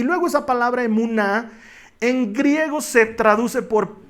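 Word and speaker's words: אֱמוּנָה: La fe en hebreo se pronuncia emuná.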